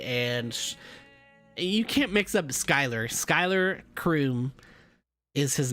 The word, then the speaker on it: Schuylar: it several times but it's pronounced skyler skyler croom is the